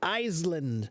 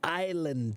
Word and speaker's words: island: you said the word iseland and the pronunciation is Island the S is a silent letter okay so yes the